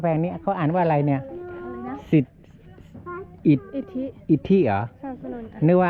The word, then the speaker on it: อิทธิ: อ่าน ว่า อะไร เนี่ย อะไ นะ สิษ อิฐ อิทธิ อิทธิ เหรอ สสนน นึก ว่า อ่าน ว่า อิฐ นี่ เอา ใหม่ อ่าน ใหม่ มา นะ พิพิธภัณฑ์